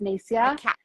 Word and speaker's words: Nasya: actually I'm just gonna my name's actually pronounced nacia which is it's totally